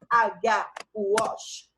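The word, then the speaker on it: Wach: Walsh se escreve W-A-C-H, Walsh.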